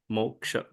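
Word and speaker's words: moksha: word is Moka m o k s h MOA I like that your words are so phonetically written they're not you know they don't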